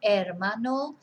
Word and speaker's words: hermano: brother and la hermana remember we don't pronounce the H so el hermano that hermana and the